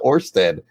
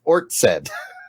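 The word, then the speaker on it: Ørsted: this show spelled backwards it's not orsted it's ort said ort said yeah potato potato so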